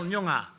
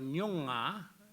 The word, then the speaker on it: Noongar: Well, if you want an argument, you ask how to spell Noongar. Because we've got different dialects. There's Noongar, there's Noongar, which is spelled N-O-O-N-G-A-R. Then you've got Nyongar, then you've got Nyongar.